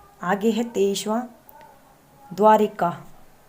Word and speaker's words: द्वारका: कि आगे हितेश अथवा द्वारिका अक्सर लोग द्वारिका को कि द्वारिका अशुद्ध वर्तनी है जबकि सही है द्वारका कि द्वारका को है